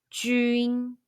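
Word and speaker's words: 军: When you see pinyin jun, the pronunciation is jun, and qun pronunciation is chun.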